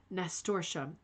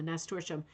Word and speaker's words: nasturtium: Pronounced nasturtium. Thank you, Pamela. Nasturtium. That is way easier.